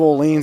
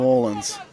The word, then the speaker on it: Orleans: background there, the New Orleans. Is that how you say Orleans or Orleans? Yeah, Orleans. Orleans. Well, they call it the Orleans for some silly reason, but it is the Orleans.